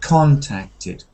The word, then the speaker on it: contacted: this is interesting because most words that begin with Co n uhhuh take that stress pattern SEC second syllable kind of pattern like complete condition but this one is one of the exception so you need to say contacted contacted okay contacted yeah okay